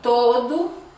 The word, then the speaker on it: todo: O todo também, ó, todo também, ok? Abre um pouquinho a boca e dá uma ênfase nele.